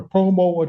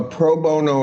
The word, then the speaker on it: pro bono: Uh, is it a such thing as a promo attorney? A what? Uh, I may not be pronouncing that correctly. A lot of denture work done. Proono. Proono attorney. Yes. A pro bono attorney.